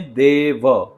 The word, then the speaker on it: देव: निर्विघ्नम कुरुमे देव ना ही के निर्विघ्नम कुरुमे देवा या कुरुमे देवो फिर से एक बार